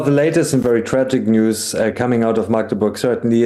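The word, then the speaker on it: NIUS: Now, to discuss this, I'm pleased to welcome Julian Reichelt, a founder and editor-in-chief of NUIS? News. Oh, it's pronounced news.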